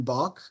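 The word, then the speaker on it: Bök: I've been writing a little bit about Christian Bock, but it's spelled B-O-umlaut-K.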